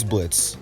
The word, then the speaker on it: Blitzo: This is Blitz, even though his name has an O in it like Blitzo, but the O is silent.